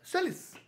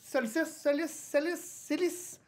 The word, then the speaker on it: Célis: C'est un certain brasseur du nom de Pierre Solis. Célis. C-E-L-I-S-E. Pierre Célis a fondé la brasserie Cluy. Pensez comme ça, ça se prononce.